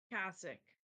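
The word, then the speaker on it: Qssyk: what is your name what are you call cassic cassic how did you spell C I'll I'll spell it it's Q SS y k and I'll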